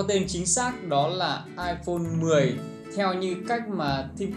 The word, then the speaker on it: iPhone X: X, thì chúng ta sẽ đọc nó là iPhone 10. Và đầu tiên mình cứ nghĩ là phải đọc iPhone X, tại vì trên màn hình hiện dòng chữ là iPhone X.